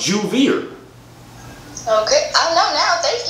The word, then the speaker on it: Javier: You said my name's Javier. I'm black. Why you pronounce the J with a H? It's a J. So it's J-O-O-V-I-E-R.